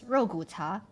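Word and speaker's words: 肉骨茶: Bak kut teh, but in Chinese it's rogu cha, and it's so good.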